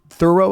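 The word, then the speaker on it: Thoreau: Henry David Thorough, I believe, is how we pronounce his last name.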